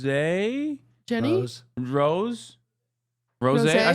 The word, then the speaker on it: Rosé: of them hate Lisa, some of them hate Rose. Jenny? Rose. Rose. Rosé?